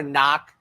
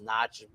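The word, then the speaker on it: Dornoch: gonna go with door knock a lot of times when you see noch though it's not pronounced Notch knock or something first time starting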